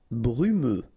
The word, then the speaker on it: brumeux: Brumeux. Okay, final X not pronounced, so you get this E and then U.